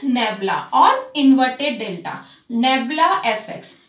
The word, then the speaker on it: nabla: back what if nabla how we pronounce it it is nebula or inverted Delta nebula